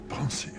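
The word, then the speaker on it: Pensieve: teardrops and he orders take them to the pon he pronounces it Pon with the FR French pronunciation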